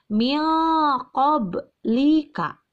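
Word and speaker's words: من قبلكم: blika lihat cara menulisnya Min qoblikum nun mati bertemu dengan call maka cara membacanya harus dengan ikhfa' atau samar menyamarkan nun mati nya berubah menjadi A6 Pak karena bertemu dengan huruf qaf huruf qaf ada pada salah satu huruf ikhfa jadi cara membacanya milko blika Kenapa disebut Hulk disebut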